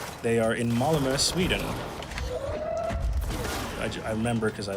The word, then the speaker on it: Malmö: I was about to say that you just pronounced Malmö perfectly.